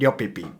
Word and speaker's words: Yip: and S Japan also many people ask me the pronunciation of my name my name is called Yip let me explain my